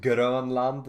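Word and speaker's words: Grønland: In Swedish Danish in the region is pronounced Ganland not Greenland.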